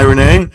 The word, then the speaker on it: Renee: So, um hi Renee.